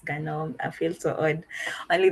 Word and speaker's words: GNOME: So for the ones that go for the GNOME, it's actually pronounced GNOME.